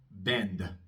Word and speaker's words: bend: Bend, bend. La D es sonora, así que voy a pronunciar una pequeña A después, muy cortita, bend.